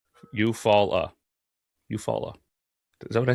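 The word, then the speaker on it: Eufaula: How do you say e u f a u l a eupola which sounds like followed by fall eupfala eupfala.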